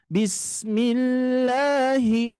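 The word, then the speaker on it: بسم الله: zalalah ini e kasrah jadi dibaca tipis Bismillah jangan sampai gini Pak Bu bism sering terjadi itu bismillahah itu ya itu menambah mad hati-hati Ya maksudnya menjadi ada madnya maka dari itu pengucapannya harus langsung di mim ke lamnya langsung bismillah H ya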